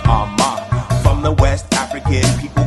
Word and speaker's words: Armah: My last name is pronounced Armah.